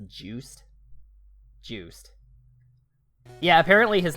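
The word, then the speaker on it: Juste: by Simon's grandson on justy Belmont but it's pronounced juice juic yeah apparently his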